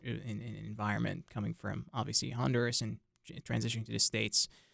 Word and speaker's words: Honduras: Juan is a student here at NC State University studying business administration, and he is from Honduras, or Honduras. That's how it's Yeah, pronounced in yeah.